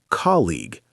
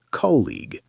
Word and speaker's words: colleague: Colleague is a fun one. Yes, it's pronounced colleague, not colleague. And schedule can be pronounced two ways.